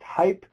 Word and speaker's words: HyP3: created a um processing system that we call hype so the hyp3 uh is pronounced hype it stands for hybrid pluggable processing pipeline it's